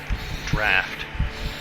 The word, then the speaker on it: draught: Draft. Really? It's pronounced draft? Like the one that's spelt like drought, almost?